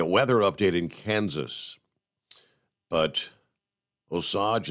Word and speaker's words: Osage: update in Kansas but Osage is pronounced long o o sage like the spice okay o Sage Kansas